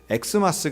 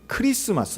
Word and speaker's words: 크리스마스: 그래서 이걸 읽을 때도 x 마스 가 아니라 이건 크리스마스 라고 읽어야 정확한 발음입니다 어떻게 요즘에 또 최근엔